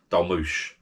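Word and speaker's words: dolmuş: It's spelt Dolmus or something, Dolmus. But I think if you look up on the internet, it's pronounced Dolmush.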